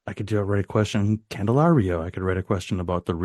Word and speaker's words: Candelario: Jaime Candelario. Candelario, thank you. Yeah. I remember seeing that and thinking, I rarely get the inspiration to, write a question. I'm like, Rio, I could write a question. Candelario, I could write a question about the Rio